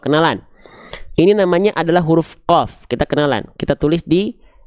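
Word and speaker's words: ق: Huruf qof itu sama kayak huruf kaf, cuman beda dikit.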